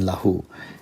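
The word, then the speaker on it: لَهُ: lahu notice how short the lamb is in lahu it is very very short and meanwhile the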